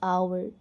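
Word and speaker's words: hour: जैसे हम एच ओ यू आर को आवर पढ़ते हैं। एच उसमें साइलेंट होता है। Similarly here also we have to pronounce आवर।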